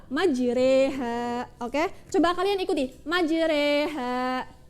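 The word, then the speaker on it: مجريها: 41 ya ini kan kalau kita ee baca secara secara biasa itu majroha ya tapi karena ini termasuk bacaan imalah maka membacanya adalah majreha Oke Coba kalian ikuti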